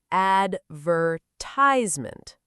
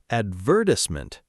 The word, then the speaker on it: advertisement: In American English, the stress falls on the third syllable. advertisement And in British English, the stress moves to the second syllable, advertisement. It almost sounds like a completely different word.